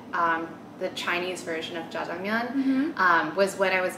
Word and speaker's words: Jajangmyeon: first how do you say it correctly it's jaman ja is that right J I like how